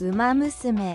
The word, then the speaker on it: Uma Musume: All right, let's see how to properly pronounce this word. Um, Musame.